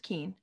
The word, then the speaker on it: Keane: my name is keane yes it's pronounced keen and i am a